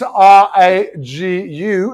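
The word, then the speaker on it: ragoût: uh in Italian it's in Italian it's r a g u in French is r-a-g-o-u-t it's Ragu Ragu is actually a a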